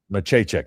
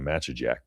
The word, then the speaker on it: Machacek: I learned how to pronounce Machacek. That was what it was. I think you corrected me on that last year, and I keep saying Machajek.